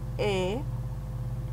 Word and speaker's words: he: He, remember the H is silent in Spanish.